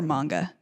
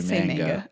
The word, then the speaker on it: manga: do the sub question is it pronounced manga or Manga oh it depends on where you are in America really there's not like a I I think the prop is manga okay manga okay but